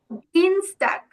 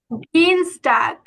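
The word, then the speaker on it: Dienstag: কি বলবো ডিনস ডাক এই যে দেখুন এখানে কিন্তু ই আর এ আছে তাই না ই আর এ থাকলে কিসের মত আউজপাখিটা হবে বলতে পারবে বলুন তো আনমিউট করে বলুন না ই আর এ থাকলে কিসের মত উচ্চারণ হবে আউস পাখিটা কিসের মত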